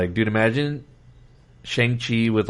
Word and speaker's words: Shang-Chi: Even Shang-Chi, like I don't even know if I'm pronouncing that right. Right? Is it Shang-Chi? It's Shang-Chi.